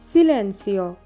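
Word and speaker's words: silenzio: নম্বর 10, চুপ করো, এর ইতালিয়ান আমরা বলবো সিলেন্সিও, সিলেন্সিও, এখানে জেডের উচ্চারণ সয়ের মতো বা এসের মতো কিন্তু হয়েছে, সিলেন্সিও।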